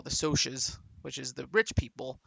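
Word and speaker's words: Socs: Socks. No, I don't know. It's because it's social. Yeah, I know. But I just sometimes I read as socks because it's spelled S O Cs, right?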